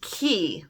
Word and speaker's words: Cay: This word, C-A-Y, which means a small island, is actually pronounced key, like K-E-Y.